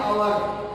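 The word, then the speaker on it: hour: जैसे में आयन अवर, यहाँ दिया है लिखा हुआ हवर लेकिन हम उच्चारण करते हैं इतना ही आयन अवर, हमें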